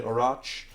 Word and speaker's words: Orach: Orach. Pretty sure I got that right, by the way. If you're Polish. Yep. I actually asked Polish yeah, half of the family the right way to pronounce it.